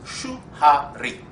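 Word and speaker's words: Shuhari: In Japan, somehow, it's pronounced as shu-ha-ri. No? Well, there you go. Now we know there's a conflict between the Japanese and the Chinese. Okay. Japanese call it shu-ha-ri.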